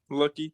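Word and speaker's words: Luckey: what is is it his actual name yeah lucky yeah that's amazing I see all that I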